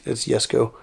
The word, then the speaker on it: Jesko: In a lot of countries in Europe, it's actually pronounced as a Y sound.